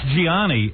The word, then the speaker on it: Gianni: You know his name is spelled Gianni, but they're saying it's Johnny. Yeah, well, it's Gianni, and yet all the newscasters are going Johnny Versace.